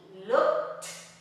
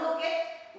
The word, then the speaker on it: looked: So we add ed, looked, is strong, looked with a T, looked, no look it, we write it look it, but it's looked, all right?